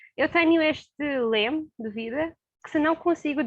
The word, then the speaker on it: lema: dizer alguma coisa é perto lá a palavra lema o problema é porque como pronunciar se parecer com um pronunciaste o ar